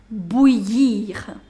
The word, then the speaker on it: bouillir: That's bouillir. Little difficult to pronounce. So I told you I-double-L, when it comes together, you do not pronounce double L.